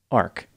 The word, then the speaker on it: Arq: Matt's car to drive to a nightclub called Arc it's spelled arq after this they made their way